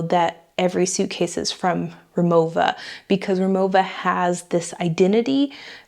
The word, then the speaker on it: Rimowa: and tell me it's Rimowa, and it is a German brand. I am in Germany, so in German, the language, the W is pronounced with a V, like, so you say Rimowa and not Rimowa.